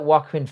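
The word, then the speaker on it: Joaquin: I get that Wakuin Phoenix, that's how you pronounce his name, is a good actor and whatnot, but they butchered that It was awful.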